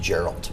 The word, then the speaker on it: Jor-El: No, I like It's pronounced Gerald.